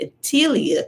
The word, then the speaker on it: Etteilla: But for the person who is involved in tarot, and maybe you have mastered tarot, maybe the Atelia Tarot can widen your perspective. It's spelled Etteilla. Atelia Tarot.